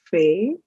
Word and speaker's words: fait: T is silent, fait.